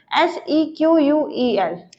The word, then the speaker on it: SEQUEL: अब EF code ने बात की थी, उसके बाद आईबीएम ने इसको किस नेम से प्रोनाउंस किया था, SEQUEL, which is stand for simple English query language.